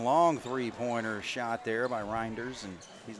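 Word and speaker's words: Rynders: I believe is still out there is it you know I actually checked that that's number one right reinders that's how you pronounce it r-y-n-d-e-r-s blinders Bennett gives it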